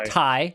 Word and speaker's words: Ti: I should probably clarify I pronounce Ti wrong according to Nvidia according to them it is ty which i think is the stupidest thing ever because ty is spelt